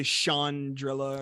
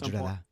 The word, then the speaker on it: Chandrila: kind of exploration of Chandrila or however I guess it depends on if you're British or not, how you say it. Because I know in Andor, Mon Mothma, Sean, whatever. they say Chandrilla at some point.